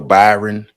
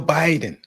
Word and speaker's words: Biden: a debate between Joe Byron and I know I'm saying it wrong for some of you people in the comments it's Joe Biden I know it's a joke